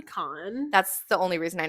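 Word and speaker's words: Kahan: called him like Noah it's spelled k-a-h-a-n so that's what you would think and he like to edit it and was like it's actually Khan that's the only reason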